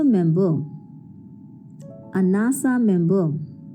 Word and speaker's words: NASA: For example, a SAARC company, a NATO member, a NASA member. Though all these words are abbreviations, but we pronounce it like a word.